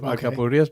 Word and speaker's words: alcapurrias: Let's talk about alcapurrias. Did I pronounce that correctly?